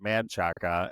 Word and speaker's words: Manchaca: They call it Menchaca, right? So like it's spelled Menchaca. Before it was spelled Menchaca, it was spelled Manchaca, and then before that, people just called it Manchac.